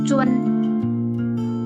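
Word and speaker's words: 尊: Yang pertama cencing tulisannya Z U N. Bacanya bukan cun atau zun kayak gitu. Tapi Z dibaca C. Un bacanya bagaimana? di awal ada ketemu bacanya u e n jadi dibaca cuen cuen oke cing artinya menghormati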